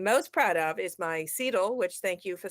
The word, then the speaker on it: CETL: and i am most proud of is my sidl which thank you for saying it correctly which